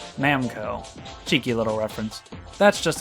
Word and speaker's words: Namco: called Goro Awase, and the numbers 7, 6, and 5 are pronounced as Na, Mu, and Ko, respectively. Namuko. Namco.